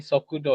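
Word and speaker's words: 速度: bukan Ke itu Shokudo. ya. Ini Sokudo ya, kecepatan di sini.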